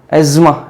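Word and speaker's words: asthma: अस्थमा बोलते हैं, लेकिन इसका जो प्रोनाउंसिएशन है, कुछ लोग इसको एस्मा भी बोलते हैं ना, एज्मा, एज्मा, ठीक है, अस्थमा नहीं एज्मा बोलते हैं इसको, ठीक है।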